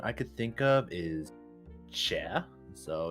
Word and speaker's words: chè: The most common I could think of is chè. So it's like a what's the best way? So it's spelled CHE.